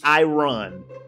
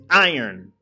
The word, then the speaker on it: iron: you can't make iron I run it's iron it's no language where it's pronounced iRun it's is iron and and on top